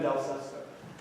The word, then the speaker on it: Del Sesto: How do you pronounce the witness's name? Del Sesto.